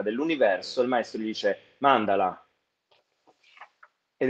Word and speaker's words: mandala: sicuramente sentito è il mandala Molti dicono mand in realtà l'accento è su Mandala Infatti c'era un Meme